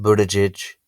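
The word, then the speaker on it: Buttigieg: andy beshear cory booker pete buddage that's how you pronounce it by the way andrew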